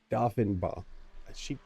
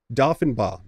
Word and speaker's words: Doffinbaugh: Cerno, and 16th, Paige Doffinbaugh. You know what? I asked her specifically how to pronounce her name, and it is Doffinbaugh. Doffinbaugh is how you say that.